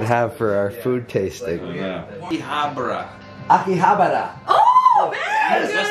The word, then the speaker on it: Akihabara: Akihabara. Akihabara. Oh, man! Yes, that's not the way you said it. You can say yes, yes, how you want. Say it again, because I'll spice your other word. Akihabara.